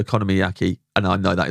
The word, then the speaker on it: okonomiyaki: Okonomiyaki, that's Yeah.